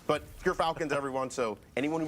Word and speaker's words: Gerfalcons: We actually, off screen, we're figuring out how it's pronounced. But Gerfalcons, everyone, so anyone who mispronounces it, that's how you say it.